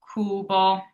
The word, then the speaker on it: cubo: And last, we have our U, which is pronounced oo. So, an example is the word cubo, which means cube.